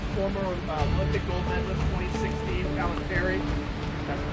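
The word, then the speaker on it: Paltrinieri: The race with 4 guys, the American and the former Olympic gold medalist 2016, Palanteri. That's pronounced correctly.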